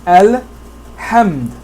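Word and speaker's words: الحمد: Here the alif is pronounced al-hamd, alhamdu.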